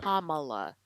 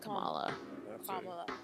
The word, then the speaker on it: Kamala: way to show respect so it is kamala not kamala and i'll be honest